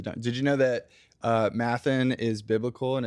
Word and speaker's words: Matthan: just Nathan with an M, so I could see why people would.